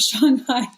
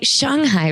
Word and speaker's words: Shanghai: So I'm very sad that most people won't get to ride it here unless they go to Shanghai.